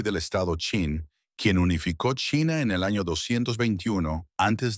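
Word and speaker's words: Qin: También fundó la dinastía Chin, pronunciada Chin, que dio su nombre a China.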